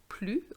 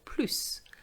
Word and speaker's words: plus: back to french action with another video on pronunciation a common mistake i hear has to do with plu or plus do you know when to say plu or